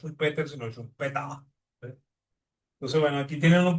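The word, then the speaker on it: Schumpeter: Y su apellido se dice en alemán chumpeta, ¿okay? No se dice, no se dice eh Peter e y en el caso de como él es de origen austríaco, e el la pronunciación austríaco de esto es un peta, ¿okay?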